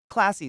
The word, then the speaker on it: klaasi: Classy is the second word. Literally classy, but it's spelled Klaasi, but I don't care.